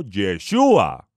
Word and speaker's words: Yeshúa: los españoles o por aquellos que pronuncian mal la letra j el todopoderoso envió un mensajero a la tierra con la instrucción Divina de llamarlo yeshua Por qué Porque Yoshi